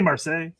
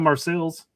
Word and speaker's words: Marseille: I say Marseille, not Marseilles.